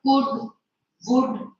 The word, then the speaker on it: would: This word would, the L is silent.